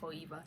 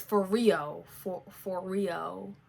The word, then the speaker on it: Foreo: It's not Foeva. It's Foreo.